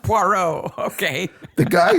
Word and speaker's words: Poirot: wants you to take care of his porro pirate it's pronounced poro okay the guy says I have a parrot